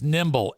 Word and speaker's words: Nimbl: The company is Nimble, Nimbl. They spell it weird, Nim, the Nimble Accelerate Percussion Massage Gun.